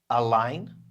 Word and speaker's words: align: Align. So what does that sound like? It sounds like the word line.